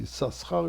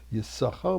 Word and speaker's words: Issachar: You don't pronounce Issachar, you pronounce Issachar, because one of the sheens belonged to Zevulun.